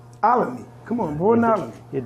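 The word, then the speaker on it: Olney: Alamy.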